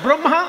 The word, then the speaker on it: ব্রহ্মা: তেমনি ব্রহ্মা বিষ্ণু মহেশ্বর, ব্রহ্মা রফলা বলে, ব্রহ্মা বিষ্ণু মহেশ্বর, ব্রহ্মা প্রদীপ।